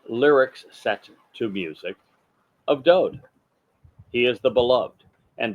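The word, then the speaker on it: דוד: set to music of Do he is the Beloved and do is the correct pronunciation of his name it is not David there is no second vowel in his name just one the W and it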